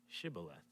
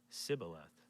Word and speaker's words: Shibboleth: tell him to say Shibboleth. If he was from Ephraim, he would say Sibboleth, because people from Ephraim cannot pronounce the word correctly.